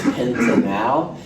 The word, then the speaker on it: pentanal: I'm kind of trying to emphasize the pronunciations here just to make sure it's clear. This is pentanal, and this is a pentanol.